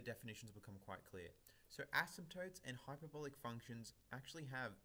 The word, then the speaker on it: asymptotes: That's a silent P in asymptotes, in case you were wondering.